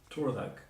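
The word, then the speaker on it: tardhak: But you've got to remember that A-R is often OR. So this is spelled T-A-R-D-H-A-K, pronounced Torvak.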